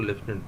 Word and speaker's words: lieutenant: Then लेफ्टिनेंट, तो लेफ्टिनेंट के spelling जो है ये अक्सर आते हैं, ठीक है, LELIEUTENANT, लेफ्टिनेंट, ठीक है, इसको लेफ्टिनेंट पढ़ते हैं।